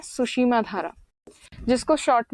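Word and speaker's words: Tsushima: तरफ यहां पर है सुसीमा धारा टीसी टीसी इसलिए क्योंकि टी साइलेंट है यहां पर जो नाम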